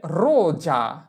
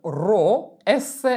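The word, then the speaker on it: rosa: মত রোজা মানে গোলাপ এখানে এটা উচ্চারণ করা যাবে না যে রোসা রোসা এর উচ্চারণ হবে কি রোজা রোজা আমরা আরেকটা উদাহরণ দেখব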